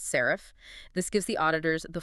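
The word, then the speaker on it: SARIF: Often, this is standardized into a format like serif, pronounced serif.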